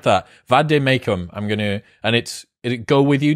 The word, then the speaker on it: vade mecum: A vade mecum is a Latin. Did I pronounce it correctly?